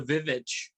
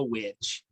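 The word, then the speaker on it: VVitch: If you look how it's spelled, that's not a W, that's two V's. Right. Because the letter W wasn't widely used then. Oh, okay. Some people still pronounce it the Vivitch. They'll call it. I'm like, it's the witch.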